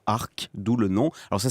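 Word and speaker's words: Arques: savoir que l'entreprise est tout simplement localisée à Arc, d'où le nom. Alors, ça ne s'écrit pas pareil, hein, A-R-Q-U-E-S.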